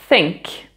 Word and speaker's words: think: Alors, on va commencer avec le mot think. Think. Think. Donc, penser. Fais bien attention ici. Donc, tu prononces pas think.